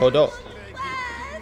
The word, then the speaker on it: Odo: I should head to Odo's bedroom. I like how they pronounce the name. Odo. Count Odo.